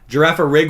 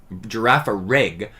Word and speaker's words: Girafarig: Girafarig with like a soft G. Girafarig.